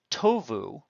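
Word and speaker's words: טובו: Or tovu, note that the stress is on the first syllable, is a cal perfect third common plural of tov, middle week, glossed as to be good.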